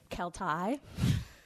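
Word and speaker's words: Keltie: whole time yeah well did you know that kelty knight is actually kel tai i met a kelty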